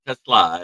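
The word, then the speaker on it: TeSlaa: Say it right, guys. It's Isaac Tesla. It's a Slavic name.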